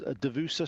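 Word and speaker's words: Duvessa: see her at 11 o'clock her name is devusa Shane if you need to spell that that's d-u-v e double s a and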